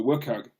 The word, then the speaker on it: WCAG: Well, I introduced What the WCAG, which incidentally is how it's pronounced, which outlines in detail